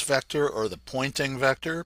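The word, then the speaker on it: Poynting: It's actually the pointing vector. It's spelled differently, but it's pointing to the right.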